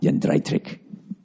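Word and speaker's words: Jędrzejczyk: Yoanna Joanna Jedrzejczyk. Did I say it right? Joanna Jedrzejczyk.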